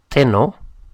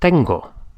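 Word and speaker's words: tengo: to have ten ten I have is not Teno but Tango so we can see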